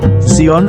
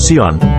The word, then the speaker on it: Zion: Zion adalah pengucapan dalam bahasa Inggris, sedangkan dalam bahasa Latin disebut Sion, dalam bahasa Ibraninya adalah Sion.